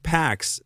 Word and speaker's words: P4X: He adopted his pseudonym P4X, pronounced PAX, a cheeky, almost ironic nod to enforcing peace through punishment.